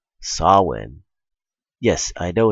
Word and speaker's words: Samhain: A long time ago, in ancient Britain, there was a holiday called Samhain. Yes, I know it's not spelled that way, but trust me, it's pronounced Samhain.